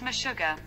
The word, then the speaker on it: Meshuggah: sugar sugar okay google how do you pronounce me sugar that's pronounced meshuggah animals by talking heads